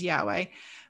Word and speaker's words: Yahweh: lord and especially well we don't know how yurtei vahe is actually pronounced we guess it's yahweh but um i think